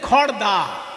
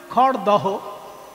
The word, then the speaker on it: খড়দহ: তেমনি খড়দা, আমরা খড়দা বলি কিন্তু লিখতে হয় কি খড়দহ।